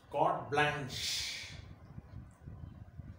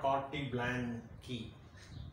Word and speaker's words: carte blanche: Today's word of the day is carte blanche. Carte blanche, not carte blanche, not key. See, just listen, see the pronunciation. Carte blanche, carte blanche. This CH, it would be pronounced like SH.